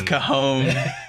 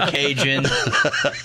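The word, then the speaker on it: cajón: It's cajon. It's never Cajun.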